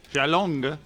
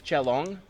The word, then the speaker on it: Challonge: Chalong. Yeah. Chalong. It's the website Chalong. What's the Like website? challenge. It's like challenge, but it's challenge with an O. And you have to say it like you're Finnish.